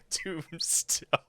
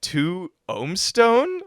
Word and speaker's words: 2mbstone: Tombstone. Such a dumb name. People, I can picture uploading that. People are gonna be like, 2-Omstone? Like, they're not gonna know it's Tombstone.